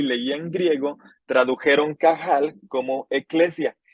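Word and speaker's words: qahal: palabra en en hebreo que es cajal que es se escribe q a h a L lo repito una vez más qahl cajal se traduce como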